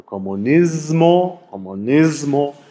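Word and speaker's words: comunismo: Also in der Regel mit stimmhaftem S, also Kommunismo, weil das M dafür sorgt, dass das S stimmhaft wird.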